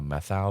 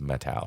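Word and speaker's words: Methow: for many many years I've called it the methal valley and recently I was camping there and I I finally asked somebody is a methal or metal and they said it's metal so I've been pronouncing it wrong for just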